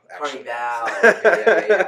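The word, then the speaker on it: Carnivàle: And everybody said Carnival. Carnival. But it's spelled the same way.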